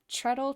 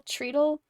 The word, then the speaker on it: treadle: up the the how do you say it treadle treadle like t-r-e-a-d-l-e type of sewing machine so like